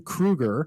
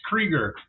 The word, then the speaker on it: Krueger: modeler special guest also known as Krueger on Facebook uh thanks for taking the time to be with us tonight how are you doing I'm doing well uh it's actually pronounced creger you wouldn't think it but that's just how